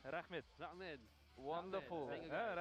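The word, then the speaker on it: Рахмет: Rahmet. Rahmed. Rahmet.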